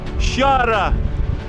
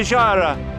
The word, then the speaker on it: Xgħajra: Xghajra, look at the place here. Totally windy. I'm sure you can hear me. I just came down from Smart City, walking down to Xghajra.